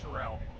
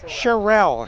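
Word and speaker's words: Sharell: His last name is Terrell. Malik Trell. Charelle. Charelle. Spell it.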